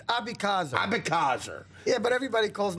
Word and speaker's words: Abeckaser: It's Abeckaser. Abeckaser. Yeah, but everybody calls me Danny A. Danny That's why, because nobody can pronounce it.